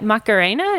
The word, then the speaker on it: Macarena: diseases department, Hospital University Macarena. Do you say it like the dance?